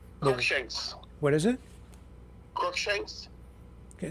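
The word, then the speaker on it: Cruickshanks: uh your your name Shanks what is it crook Shanks okay spell it for me and and I'll r u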